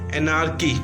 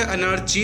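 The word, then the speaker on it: anarchy: क्या बोलेंगे उसको? एनार्की, ठीक है। ये प्रोनाउंसिएशन में अनार्ची मत बोलना, ये क बोलते हैं इसको, ठीक है।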